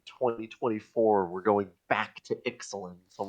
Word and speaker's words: Ixalan: way that looks Mesoamerican, but they pronounce it in the more Latin way of Ixalan, which is stupid.